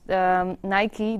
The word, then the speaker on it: Nike: Yeah, now you immediately know, because in the Netherlands some people also pronounce Nike as Nike, but eventually it is Nike, the goddess of victory, right?